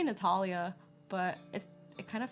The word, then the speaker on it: Natalia: don't know me natalia people pronounce my name like natalia which i don't really care um i say natalia but it it kind